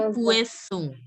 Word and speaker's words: poisson: It has to, wherever there's OI, you have to pronounce it as ue. Ue. So it will be poisson.